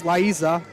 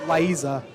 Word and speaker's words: Liza: subs coming in nicole apparently pronouncing it wrong this laiza i i've been pronouncing that laiza it's liza according to sid bob red as it